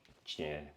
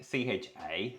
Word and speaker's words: C: Che. Che. Che. Che. It's like CHA, maybe.